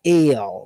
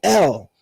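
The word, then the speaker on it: אֵל: singular form for God is the vowel tzere, which is a A sound. Right? So, that's ale.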